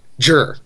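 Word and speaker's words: zhi: i which is pronounced jur j-i-r so you actually have to be reading it as you're going and going okay Z is not Z it's Jer and you're reading it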